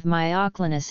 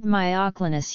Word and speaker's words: myoclonus: English and British English the variant stressing the OC syllable is the only pronunciation given in a half-dozen major American dictionaries the variant stressing the